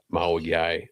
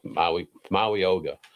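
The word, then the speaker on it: Mauigoa: But I watched that, and Spencer Fano stuck out to me more than Maui guy. I think I said his name wrong, but Maui Oga.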